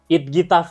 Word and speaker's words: IDGITAF: Coba gimana bacanya? Bacanya itf. It gitaf.